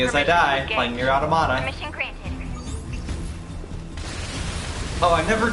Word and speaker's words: Automata: Anyways, so apparently there's only like one line of dialogue where they do say automata or automata, and how they pronounce it is automata.